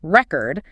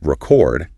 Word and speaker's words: record: And by putting the stress on the second syllable for the verb record, the language is signaling attention. This is the action being performed.